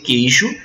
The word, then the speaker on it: queijo: Não, porque quando você pronuncia queijo, lembre-se de que esse U não é pronunciado. Então isso constitui um dígrafo. Na palavra queijo você tem o dígrafo